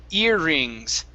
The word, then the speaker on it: earrings: earrings try that okay so even though there's a double r we do not turn we don't roll it we don't say earrings okay so it's only one r sound earrings earrings very good